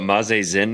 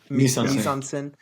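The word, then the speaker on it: mise-en-scène: What can you explain to the people what mazen means, please? Um, it I believe it's French misen. Um, it is Oh, that makes sense when you say it correctly.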